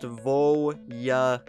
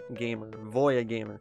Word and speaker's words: VoiaGamer: My channel is pronounced VoiaGamer. VoiaGamer.